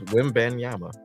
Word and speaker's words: Wembanyama: it's the Wim part. I don't feel like it should start off as Wim based on how it's spelled.